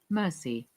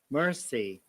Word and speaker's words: mercy: Then Marcy, according to the American pronunciation, we have to pronounce R, but in the British accent, we do not pronounce R in this case. Marcy rather than Marcy. Mercy. Mercy.